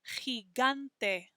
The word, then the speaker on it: gigante: First one is next to an I, so it's a soft G sound, gi, but the second G is next to an A, so it's a hard G sound, gigante.